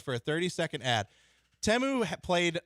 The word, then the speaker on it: Temu: up my up is Teemu yeah I guess it's pronounced temu I didn't know I didn't know that either because the kids all say team and they freaked out when they saw spots for this you know